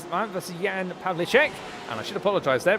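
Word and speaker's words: Pavlíček: That's Yan Pavlichek. And I should apologize there because I've been referring to him as Yan Pavichek when actually I do believe the pronunciation is Yan Pav Lichek as he makes and through.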